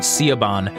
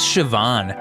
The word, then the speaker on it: Siobhan: we looked up um I was pronouncing it caban and Jen's like I think it's Siobhan and she's like I